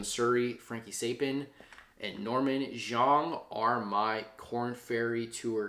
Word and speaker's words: Xiong: Norman Xiong, I believe is how you say it, X I O N G, Xiong, plus 15,000, Scorpio Sun